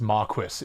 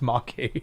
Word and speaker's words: marquis: Like, did no one at any point tell them it's not pronounced Marquis, it's pronounced marquee.